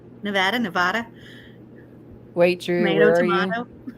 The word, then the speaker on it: Nevada: Me Nevada. too. Nevada. Oh, I don't mind how you say it. It doesn't bother me. Nevada. Now, Nevada is wrong.